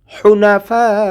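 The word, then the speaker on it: حُنَفَاءَ: লিয়াবুদুল্লাহা মুখলিসিনালাহুদ্দিন হুনাফা হুনা হুনাফা কণ্ঠনালীর মাঝখান থেকে উচ্চারণ করতে হবে চিকন করে হুনাফা চার আলিফ পড়বো মিমটা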